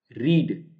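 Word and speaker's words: read: और प्रॉमिसिफाई और pushing रीड इसकी सेकंड थर्ड फॉर्म में प्रोनंसिएशन चेंज हो जाता है रेड रेड और रीडिंग पले स्पेलिंग सेम नेक्स्ट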